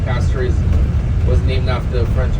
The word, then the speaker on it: Castries: It's actually called Castries, not Castries. It's spelled as Castries if you pronounce it in English, but the real pronunciation for it is Castries.